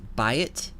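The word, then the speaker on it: בַּיִת: The question is that Forte, meaning a double Bet, or is it Lene, meaning a pronunciation of Bet and not Vet?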